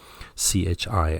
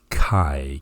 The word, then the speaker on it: chi: notice please the pronunciation c-h-i i know it seems like and it's may even be tempting to pronounce this as chi but the correct pronunciation is kai ki chi square distribution